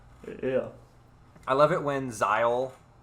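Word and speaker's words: Zahel: I love it when zile which is how I've been pronouncing his name or that's how they that's how a Kramer pronounces it he's like brandishing this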